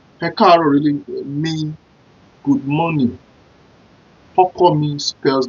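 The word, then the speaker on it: Ọkọ mi: Hokomi spells like O-K-O-M-I.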